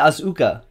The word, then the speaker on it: Asuka: How do you pronounce the name? Asuka.